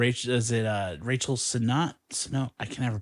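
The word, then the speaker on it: Sennott: is it uh Rachel son I can never pronounce her name oh yeah Rachel yeah it's like senate or yeah she's really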